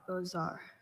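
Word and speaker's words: beaux arts: Bozar. Bozar is spelled B E A U X A R Ts.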